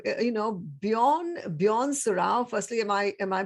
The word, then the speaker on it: Bjorn Surrao: Bjorn Surrao. Firstly, am I pronouncing it correctly? Hashtag asking for a friend. Almost there. That's cool. So it's Bjorn Surrao. Surrao is a part Portuguese kind of name, very similar to yours.